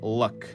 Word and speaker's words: Luc: Um, so that guy that guy's name is luck but like without the K. So he's spelled like luck. L U C. No K.